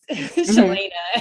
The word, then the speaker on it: Cheylaina: And so I remember even with my name, all my life has been, you know, mispronounced, Cheylaina.